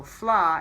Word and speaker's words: Fleadh: And so Flaw is spelled Fleadh. I know it does not. One more look time. Like Fleadh. Right. Or DH as they say here.